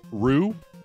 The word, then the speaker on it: Ryu: right so and so then I started saying Ryu all the time then people like R and then somebody came in and they were like it's actually pronounced Rue and I was like okay now go [